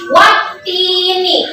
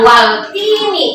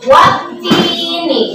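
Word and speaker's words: والتين: Alif dan lam, tapi tidak dibaca karena ada tasdid di sini. Jadi wattini, bukan waltini. Salah kalau waltini ya. Dibacanya wattini, wazaitun.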